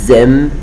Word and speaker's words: aiment: Nous aimons, vous aimez, ils aiment, elles aiment. I don't say ent, ent, I don't say it all the time with the verbs with il or elle avec s.